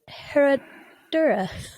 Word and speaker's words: Herradura: Herradura. Herradura. I think the double R roll is difficult.